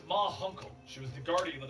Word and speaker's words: Ma Hunkle: her that it was Munkle. The Guardian suddenly appears, and around the corner, the aging members of the Justice Society of America step into view. It's pronounced Ma Hunkle.